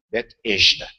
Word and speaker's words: Betesda: Carioca pronunciaria bem, né? Bet-esda.